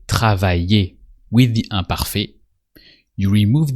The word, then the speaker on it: travailler: So actually with er verbs, like travailler, it sounds the same. Just travailler. And that's it.